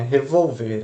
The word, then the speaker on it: revolver: Revolver a pessoa. Meus braços revolveram. Então, revolver. Ver é a sílaba mais forte, né? Revolver. A sílaba mais forte é a última aqui, então é um oxítono.